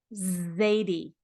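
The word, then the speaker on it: Xadie: It says Z. It's another way to say Z.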